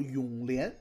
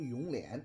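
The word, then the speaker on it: 永琰: 不知道为什么呀，很多电视剧他们呀都把这个名字念作永琰，哎，那实际是错的啊，一定得念成永琰。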